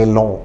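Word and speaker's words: élan: देखिए question word ELAN का pronunciation है एलों। ये फ्रेंच भाषा का शब्द है मूलतः, जो बाद में अंग्रेजी में आया।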